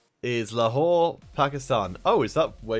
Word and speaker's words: Lahore: Let's have a look and see how it's pronounced. Lahore.